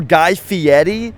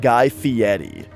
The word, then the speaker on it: Guy Fieri: Or Guy Fieri. When he said his own name, he said it like Guy Fieri. So maybe that's how you say it.